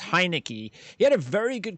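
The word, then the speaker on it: Heinicke: a very good career i think it's pronounced heineke he had a very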